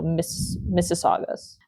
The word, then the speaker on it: Mississaugas: It's kind of spelled like Mississippi, but with Augas at the end. So Mississaugas. That's the indigenous group there.